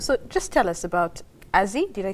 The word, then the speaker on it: AZZI: So, just tell us about Azie. Did I say it right? Yes. Azy.